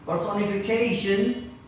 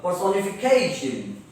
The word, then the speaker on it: personification: Personification, TION से पहले जो आता है उसको जोर से पढ़ते आपको मालूम है, क will become ख. Personification.